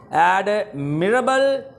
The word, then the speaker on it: admirable: इसका आंसर ये है, 2 तलफ़ुज़ हैं इसके, प्रोनाउंसिएशंस हैं इसकी, एडमिरेबल या एडमरेबल, दोनों तरह से सही है।